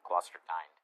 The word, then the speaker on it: Klosterkind: What's the proper pronunciation? Klosterkind or Klosterkind? Kind. Okay, Klosterkind.